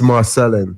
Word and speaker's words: Marcellin: It's Marcellin.